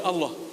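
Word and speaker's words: الله: Sekali dia lagi lewat di tong sampah terlihat di situ ada kertas kaligrafi alif lam lam ha. Bacanya apa? Allah.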